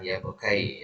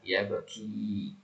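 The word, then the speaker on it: يبكي: nah kemudian selanjutnyau yadhaku yabki yabki bukan yabkai ya yabki yaftahu yaftahu yakuju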